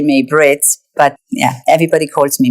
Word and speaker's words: May-Britt: Actually, my name is May-Britt, but because it is spelled with a Y, everybody calls me May.